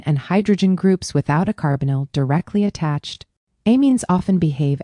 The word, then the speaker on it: carbonyl: Now, we get to the most important family in this lesson, the carbonyl, pronounced carbonyl.